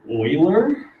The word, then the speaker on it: Euler: kind of looks like euler right it's actually pronounced like euler euler's number but it looks like euler you